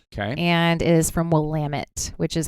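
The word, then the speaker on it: Willamette: Noir called Nicholas J okay and is from wamit which is how you pronounce that for anybody listening whoit I was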